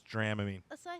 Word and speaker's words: Dramamine: theater kids take why how's it pronounced Dramamine that's what I said it's not Dramamine it's dram mean that's what I said